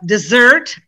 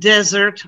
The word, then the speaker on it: dessert: the of course uh dessert and desert are typical ones that are mixed up i want a cookie for a desert no i want a cookie for dessert huh i had a